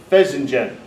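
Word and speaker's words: fesenjan: computer check on this it's of course pheasingen that's how it's pronounced but it's a Persian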